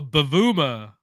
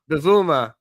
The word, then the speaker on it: Bavuma: Oh, Bavuma. Bavuma.